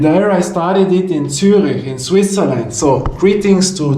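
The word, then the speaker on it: Zürich: I started it in Turik in Switzerland. So, greetings to Turik. Turik, you know, how did they pronounce it in that way?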